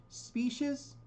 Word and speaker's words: species: Now, number 3, species. The stress is on the first syllable. Species is a noun.